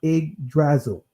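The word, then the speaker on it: Yggdrasil: right I know the why but it's actually pronounced IG drazzle all right and this IG drazzle it means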